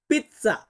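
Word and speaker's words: pizza: আছে কি পিজ্জা আমরা পিজ্জা খাই এই পিজ্জা এটাকে ইতালিয়ান ভাষায় আমরা পিজ্জা বলতে পারি পিজ্জা কিন্তু সঠিকভাবে ইতালিয়ান উচ্চারণ করতে গেলে বলতে হবে পিচ্চা পিচ্চা উচ্চারণটা এমন আসবে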